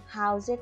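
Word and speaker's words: house: হাউসের তাহলে লাস্ট লেটারটা আমরা কি পেলাম? ই। সো এখানে দেখো, হাউসের লাস্ট লেটারটা ই হওয়ার পরেও এখানে আমরা উচ্চারণ করছি হাউস।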